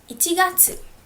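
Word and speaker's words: 一月: january how do i say it january is ichigatsu so actually um we do not have different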